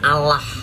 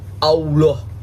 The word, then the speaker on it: Allah: Walaupun double L itu dibacanya Allah, bukan Allah.